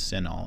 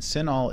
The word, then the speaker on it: CINAHL: someone is going to ask you to use senol and senol is spelled c i n AHL and that stands